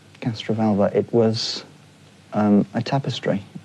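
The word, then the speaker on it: Castrovalva: What was the master's TARDIS disguised as in Castravala? Castraalva.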